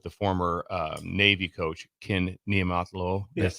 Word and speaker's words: Ken Niumatalolo: Jose State with the former Navy coach, Ken Niumatalolo. Yes, Niumatalolo, yes.